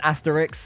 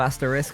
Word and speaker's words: asterisk: have a mate that says asterix instead of asterisk because both my girlfriend